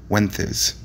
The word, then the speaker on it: Wences: brief spot of ventriloquism he pronounced his name the traditional castilian way which in english sounds like wenth is after sullivan would announce